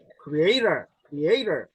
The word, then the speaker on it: creator: 아까 creature는요 피조물인데 creator 자 T가요 약간 리을 사운드가 나요.